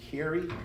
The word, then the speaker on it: Carey: It's Carey, as in like Mariah. So like Brando, Carey like Mariah.